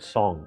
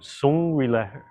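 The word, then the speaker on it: 松: And there's a concept that the Chinese called song. In English, we spell it as song. So people will call it song, S-O-N-G. And sung refers to relaxing.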